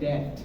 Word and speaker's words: debt: They have so much of a debt.